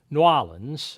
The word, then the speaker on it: New Orleans: the Spaniards to close new new orans as it's correctly pronounced to close newans to